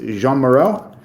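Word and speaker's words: Jeanne Moreau: please even more because I think you pronounce it Jean Moro but I'm not sure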